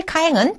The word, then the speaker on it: か: 그래서 카라고 하는 것은 이 단어의 첫음으로 왔을 때는 카 하는 식의 우리나라 말의 카에 조금 비슷하게 발음을 하시고 첫음이 아닐 경우에는 까 하는 느낌으로 발음을 하시면 되겠습니다.